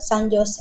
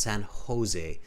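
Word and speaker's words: San José: it's Jose in um in Spanish the J sound is ha ha they pronounce it uh Spanish speakers pronounce it as a huh sounds San Jose not Jose just correcting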